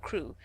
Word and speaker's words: Crewe: difference in the name madame pascal pronounced it as if it were kuru instead of crew but that might be